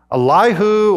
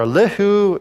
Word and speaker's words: Elihu: And then there's another character, Elihu or Elihu, you can pronounce it any way you want. Just say it with confidence.